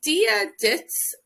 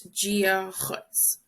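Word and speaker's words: Dia duit: So Dia Dits, you really hear the D sound in Munster, Dia Dits. But in Connacht and Ulster, it's pronounced more like a G, so it's Dia Chuts.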